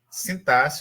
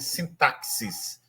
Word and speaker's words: sintaxe: Então, o termo eh o termo sintasse, sintás olha a pronúncia, não vai dizer assim, sintaxis. Antigamente se falava assim, mas o antigamente não é nem da minha época, né?